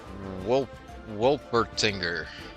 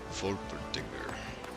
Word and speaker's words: Wolpertinger: It's probably pronounced with a V. Wolpertinger.